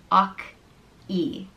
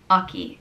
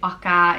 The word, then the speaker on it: Ockey: The next name is Ockey, and it means horseman, and it's pronounced Ockey. Ockey.